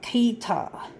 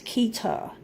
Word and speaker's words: keytar: keytar he-ey ta our keytar rhymes with guitar but it's keytar it's basically a keyboard